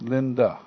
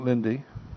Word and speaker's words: Linde: to repeat that again your last name is pronounced Linda Linda Linda yeah not Lindy no not Lindy no